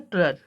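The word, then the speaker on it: trudge: Next जो यहाँ पर वर्ड है टॉप के बाद वो है ट्रज।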